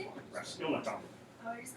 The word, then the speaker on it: Raskolnikov: Raskolnikov.